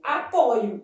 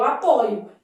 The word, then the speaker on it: apoio: e no verbo apoiar, a forma de primeira pessoa do presente do indicativo apresenta a letra O aberta. Eu apoio. Isso é verdadeiro, tá? Eu apoio.